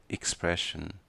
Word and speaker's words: expression: Ela é ensinada como expression, EKS. Está incorreto. A pronúncia correta, tanto no inglês americano quanto no britânico, é com IKS. Falamos então expression, ou no plural, expressions.